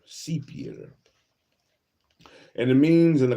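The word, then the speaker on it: cyprière: R E Sier sepion sepier the sepier it's pronounced sepier seepier and it means in the context of the lower Mississippi valley sepier is a cypress swap refers to the Cypress swamps.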